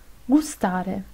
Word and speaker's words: gustare: es la g y se pronuncia G cuando está delante de la a o u gatto gobba gustare se pronuncia cuando la